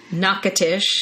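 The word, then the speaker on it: Natchitoches: in uh louisiana yes nakatish nakatish yeah it looks it's just or something that's how you would want to say it because it's very hard to pronounce but louisiana louisiana and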